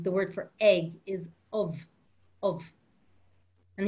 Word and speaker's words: ubh: word for egg is of of and if you saw that in writing it would be ubh because bh makes a v sound actually because when you